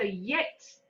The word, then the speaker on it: jetzt: Okay, so jetzt. As if you were saying English, IT apostrophe S. It. It's. There's a T on the end as well. Wouldn't be it.